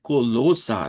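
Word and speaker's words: Kolosser: Cerramos la semana con el versículo de Colosa. Recordarán que esa es la pronunciación para decir Colosenses en idioma Deutsch.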